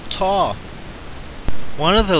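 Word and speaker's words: ת: That large letter that begins Tamim is called Ta or Tav. Ta seems to be the ancient pronunciation.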